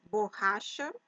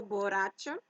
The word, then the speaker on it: borracha: Em português, a pronunciação é borracha e não borracha. O sonido do doble R em português é diferente que em espanhol.